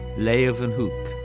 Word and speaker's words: Leeuwenhoek: L-A-Y, lay, ooh, then, they pronounce it with a V, hook, Leeuwenhoek.